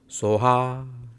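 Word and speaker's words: སྭཱ་ཧཱ: so, and achung achung soha is the mantra, so I may not be a correct pronounce. It's just like a soha. That is how you have to say it.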